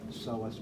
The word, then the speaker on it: psoas: is the psoas major the P is silent psoas psoas major medial thigh we